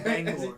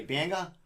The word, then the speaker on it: Bangor: How do you say it? Bangor. Yeah. What did I say? Banga? Yeah. Oh, I put an A at the end.